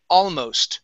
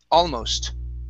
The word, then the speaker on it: almost: okay um uh other your next word is almost stress at the very beginning almost almost okay so let's